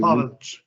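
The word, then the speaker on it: Pavelić: And then, how do you say, is it Pavelic or Pavelic, right? That's how you say it. Pavelic.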